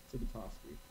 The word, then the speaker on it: Tibitosky: And I have Phil Tibitosky, is that how I say it, Phil? Tibitosky. Tibitosky, sorry, I never said it out loud before.